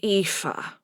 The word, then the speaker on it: Aoife: It's pronounced Aoife.